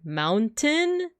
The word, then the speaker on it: mountain: American or Baran thing but the word mountain in my actual speech like when I'm saying it I don't pronounce the T Mountain this place has so